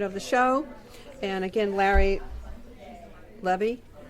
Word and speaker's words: Levy: And again, Levy. Did I pronounce it right? It's Levy.